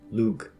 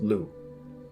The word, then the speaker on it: Lugh: Cuchulainn's father, the legendary king and savior figure Lugh, pronounced Lu, who, according to Wikipedia, is associated with rightful kingship.